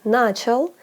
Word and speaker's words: начал: The second syllable is stressed in the infinitive, but in the past tense, on начал, it switches to the first syllable.